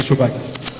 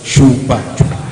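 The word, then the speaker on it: Sobajo: Shobaki. Shobaki, not Shobaki. Hello, Mr. Slide. Any updates? My name was always on my slide. Shobaki. It's displaying there. There's no H.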